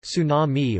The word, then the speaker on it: tsunami: English pronunciation, tsunami, or sometimes incorrectly referred to as a tidal